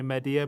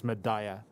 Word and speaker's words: Medea: i said medea madaya that is one of the pronunciations that i will always say media but i do believe it is madaya uh which is what the npcs say in the game so my bad on